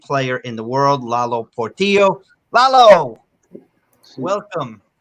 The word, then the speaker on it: Portillo: It's Portillo. So like a tortillo, but with a P in the front? I'm just kidding. Portillo.